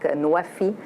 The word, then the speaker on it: NWFE: It's pronounced in Arabic Nuwafi, which means fulfilling pledges.